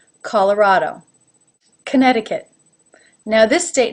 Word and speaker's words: Colorado: i personally pronounce it colorado CAW ah this is like the aw as in law even though it is spelled as a no call la schwa raw again that aw as in law colorado Oh as a no